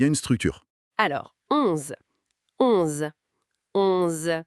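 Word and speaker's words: onze: Alors, 11 11 Encore un son nasal. 11 comme en anglais mais par le nez. 11.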